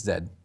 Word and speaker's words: Z: not Z. Did you say Zed? It's Zed, just so you know.